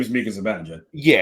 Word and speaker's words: Zibanejad: His name is Mika Zibanejad. Yeah, it's Zibanejad, and I also think it's Kreider.